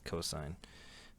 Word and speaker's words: cos: shortened to C but some people call it cost but that's kind of tacky I would call it cosine um and then tangent